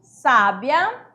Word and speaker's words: sábia: Então aqui você sabe que é sábia porque o acento agudo, né, está marcado na primeira sílaba, que é uma paroxítona. E aqui eu tenho sabia.